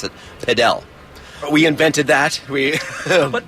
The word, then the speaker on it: padel: to pronounce the name around the world it's pronounced paddle but here in the United States we have other paddle